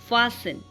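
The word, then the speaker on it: fasten: Okay, यहाँ पे क्रिस्टमस नहीं पढ़ते हैं, क्रिसमस, लिसन, फासन एंड मॉइसन।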